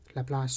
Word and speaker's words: Laplace: but we focus in our class only on laplace transform by the way it is pronounced laplace so laplace transform of a function